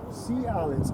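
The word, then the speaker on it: Si'ahl: uh you have to i'll spell it for you sea alex s i apostrophe ahl and the way it was said it's like um say say uh-oh for say uh-oh that's called a glottal stop what you just said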